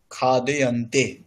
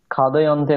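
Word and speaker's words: খাদ্যন্তে: আর পরিবর্তন করবার পর হবে লতাভ্যাম অন্নানি খাদয়ন্তে। খাদয়ন্তে নয়, উচ্চারণটা ঠিকঠাক ভাবে করুন। খাদ্যান্তে। হ্যাঁ খাদ্যান্তে। ওকে খাদ্যান্তে।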